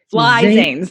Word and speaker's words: Flizanes: Think of it phonetically. Flizanes. FLI Zanes. Fly Zanes. Zanes.